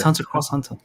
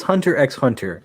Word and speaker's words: Hunter x Hunter: it's Hunter Cross Hunter. Hunter Cross Hunter. Who told Hunter- you Listen that? here, Who told you people. that? It's Hunter x Hunter.